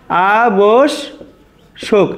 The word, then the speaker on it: আবশ্যক: দেখো আ বোস, আমরা লিখব আ বোস, আ বোস, তারপরে শোক, আ বোস শোক, এটাই কিন্তু আমাদের সঠিক উচ্চারণ।